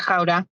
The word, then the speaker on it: Gouda: This, by the way, it's pronounced Gouda. I just want to say that because, everyone in America needs to understand that it's not Gouda, although it is good.